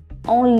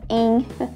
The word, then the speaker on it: en: En liberté. En liberté. En, olha só como é que eu pronuncio, não é em. É en.